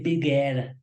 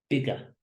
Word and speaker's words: bigger: easiest one perhaps ER this is more or less a rule for any word in English that ends in ER it's going to be a schwa sound and be careful that you don't you don't try to give every letter in English as sound so we don't say bibiere bigger smaller faster and actually